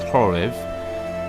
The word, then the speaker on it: Khoryv: three brothers ki shlek horev it's spelt with a cable that you say is horrif and their sister libid